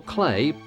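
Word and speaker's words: Cley: Cly or Clay, both pronunciations are heard today, was one of the Glaven ports.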